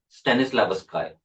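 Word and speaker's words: Stanislavski: कॉनस्टेंटिन स्टेनिस लावस्काय। ठीक है? लावस्की भी कह सकते हो आप। जैसा आप प्रोनाउंस करो उसमें कोई इशू नहीं है।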